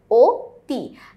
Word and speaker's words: অতি: আমরা জানি অতি শব্দের সঠিক উচ্চারণে হচ্ছে ও তি, কারণ হচ্ছে এখানে রস্যিকার আছে, সেই কারণে, যেটা আমি অলরেডি একবার